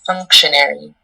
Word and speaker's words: functionary: The pronunciation is functionary.